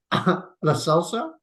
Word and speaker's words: Lo Celso: Can you just pronounce his name again? I love that as well. Lo Celso.